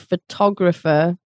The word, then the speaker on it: photographer: But then you have photography, stress on the tog, photography, like the hobby or the skill, and photographer, the person. So the stress is on the tog, not the foe.